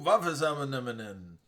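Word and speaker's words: Vaakanainen: Euro Vavazamanen. There you go, Boston. Euro Vavazamanen. Very cool. Only person whose last name rhymes with cinnamon.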